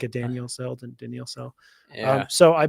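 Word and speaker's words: Daniell: e i e l almost looks like a Daniel cell yeah like a Daniel cell Daniel cell so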